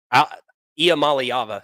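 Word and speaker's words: Iamaleava: whatever the hell his last name Nico uh IAM malava there we go I had to remember how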